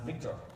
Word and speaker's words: VCTR: which is the data GD vctr pronounced Victor so today I'm absolutely